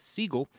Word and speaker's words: Seagal: out that Steven Seagal's last name which originally pronounced Siegel not Segal are you going to